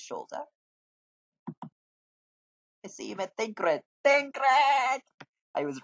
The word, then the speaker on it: Tancred: And that's how you pronounce his name, Tancred.